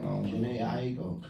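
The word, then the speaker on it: Jhené Aiko: I mean, you know, Janae Aiko. That's how you say her name. Janae Aiko.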